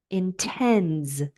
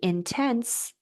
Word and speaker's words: intends: Intends, right? Because the sound before the S is voiced. If you say intense, that's a completely different word with a different meaning.